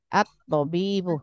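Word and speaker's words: الطبيب: at-tobibu. Tobibu. At-tobibu gitu ya, bacanya jangan tobibu karena ini makrifah.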